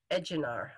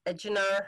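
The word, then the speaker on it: Ejnar: the story are eight i never say his name right edjinar i think it's edginar hertzbrung and norris henry norris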